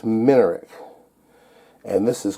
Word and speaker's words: Minarik: And I've been saying it wrong. It's a Minarik, not Minarik. It's Minarik.